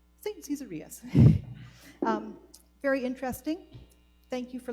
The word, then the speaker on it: Caesarius: Caesarius. Saint Caesarius.